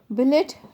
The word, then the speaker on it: billet: Billet does not rhyme with ballet.